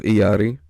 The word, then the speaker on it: Illari: was a dark time in the case of iyari yes it's pronounced that way she's Spanish so the double O turns into why she was too strong